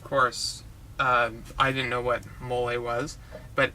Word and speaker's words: mole: I didn't know what moly was but it is spelt the same as mole just with a slight accent and that's a very significant accent because it's similar to the pronunciation of Nestle and the typical thing